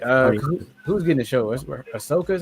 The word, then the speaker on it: Ahsoka: Ahsoka is how you pronounce her name?